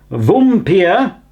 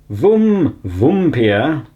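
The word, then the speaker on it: Vampyr: He's talking about the AG oh, how do I pronounce it again? Vumpir. Vumpir.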